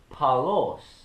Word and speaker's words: Paulos: would have been the biblical greek would be pronounced transliterated more so as paulos p-a-u-l-o-s and in the latin it would be